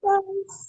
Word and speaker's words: Marquesitas: I like even looked up how to pronounce it. Marquesitas.